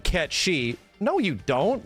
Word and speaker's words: Cait Sith: that is no longer c-a-i-t-s-i-t-h you pronounce that cat she no you don't like